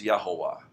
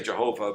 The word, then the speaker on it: Jehovah: Okay, and in Old Latin, J was pronounced as Y, and V was pronounced as W. So we spell it Jehovah, but it would have been pronounced in Old Latin as Yahovah, which is pretty close.